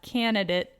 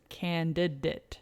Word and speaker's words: candidate: yeah that makes sense candidate candidate it's not candidate it's candidate candidate lots of d's in that one really handed it yeah people tend to drop this i've always say